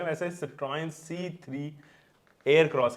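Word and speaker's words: Citroën: Video में, लेकिन पहले बात कर लेते हैं सिट्रोन के बारे में। लोग इसको कैसे प्रोनाउंस करते हैं, आप कैसे पर्सनली प्रोनाउंस करते हो?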